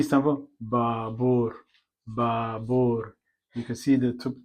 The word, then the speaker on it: baabuur: B is baabuur, baabuur. You can see the double A's, double U's. Baabuur. Let's say if you take off one A and say baabuur, it won't make any difference.